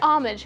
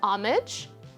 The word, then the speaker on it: homage: classic by the way the word homage has three pronunciations you can hear homage homage and homage so feel free to use